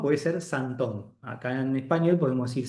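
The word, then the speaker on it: symptôme: Que es homofónica con la palabra síntoma en francés, ¿no? Entonces es santón. En un caso la palabra síntoma es con y p el acento circunflexo. Y en el otro caso se escribe sintome con i latina y h sintome, pero en francés es santom.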